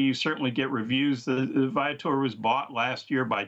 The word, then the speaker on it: Viator: Yeah, Viator. Viator. It's a play on the Latin word for traveler.